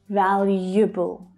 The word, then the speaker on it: valuable: The first common mistake is assuming that there are 4 syllables, but there's not, there's only 3. And the first syllable, val, is the stressed syllable, the strongest one. But the second syllable is quite tricky. There's an extra consonant sound added, one that you can't see in the written word. Y, you.